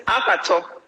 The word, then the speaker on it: Akhator: How is it pronounced? It's Akhator.